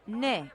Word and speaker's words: Ναι: NAI is pronounced ne, and it means yes. Ναι στο ευρώ.